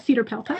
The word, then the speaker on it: CEDARPELTA: The pronunciation of that's the challenging one, but Cedar Pelta. I can spell it CEDARPELTA.